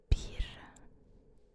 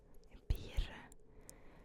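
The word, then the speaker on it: bir: comment ça s'écrit alors pire le r C'est le r que je t'ai expliqué tout à l'heure donc la prononciation du R est un peu plus différente en turc que en français pire ça s'écrit je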